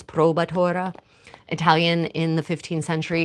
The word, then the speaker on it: probatura: Okay, so it's spelled provatura cheese here, but the modern pronunciation and spelling is probatura.